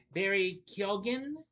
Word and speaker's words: Keoghan: Barry Kan. Yeah, that's how you pronounce Kyogan.